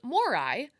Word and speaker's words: Morai: It's Moirai, but Ahsoka's bird, the convor, is called Morai. No extra I, so it's Morai.